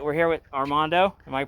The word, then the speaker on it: Armando: All right, we're here with Armando. Am I pronouncing that correctly?